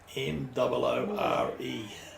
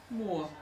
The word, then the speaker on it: Moore: double o r e m o r e yeah more more more yeah yeah like stephen moore and mike moore right how else do